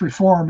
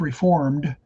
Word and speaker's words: Reform: And it's really, in terms of percentages of Jews who became Reform, and it's properly pronounced Reform instead of Reformed to distinguish it from Reformed Christians.